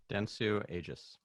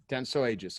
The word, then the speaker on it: Dentsu Aegis: Dentsu Aegis. Dentsu Aegis.